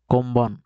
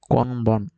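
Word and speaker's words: こんばん: এরপরে আছে দেখেন, কোনবান, কোম্বান, কোম্বান, কোনবান। লেখা আছে কোনবান কিন্তু উচ্চারিত হবে কোম্বান, কোম্বান। উচ্চারণ হবে কোম্বান।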